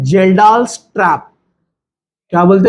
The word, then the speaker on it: Kjeldahl: ये आ रहा है यहां से, इसको बोलते हैं जेल्डाल्स ट्रैप। क्या बोलते हैं इसको? के साइलेंट है, जेल्डाल्स ट्रैप।